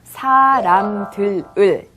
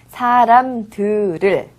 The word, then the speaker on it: 사람들을: 사람들을 쓸 때는 이렇게 사람들을이라고 씁니다. 하지만 발음할 때는 사람들을 이라고 발음하는 거죠. 사람들을. Các bạn cố gắng, các